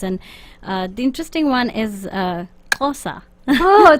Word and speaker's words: Xhosa: It's Xhosa. Xhosa. So it's spelled Xhosa. Xhosa. हाँ. X में एक click आता है.